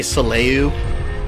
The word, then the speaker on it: Soleil: I say Solyu. Some people say Soleil. I like saying Solyu. Really, none of the games have speech, so who knows?